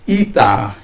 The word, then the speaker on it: eta: Jadi kalau ita itu dibaca i, jadi menulisnya eta, ya, jadi begini, jadi itu dibaca i.